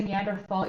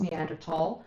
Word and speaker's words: Neanderthal: I always say Neanderthal even though I know it's Neanderthal, because in Dutch it's Neandertaler.